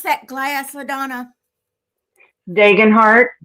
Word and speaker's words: Degenhart: What did you What How do you pronounce that glass, Ladonna? Degenhart. It's Yeah, d e g e n heart. Degenhart.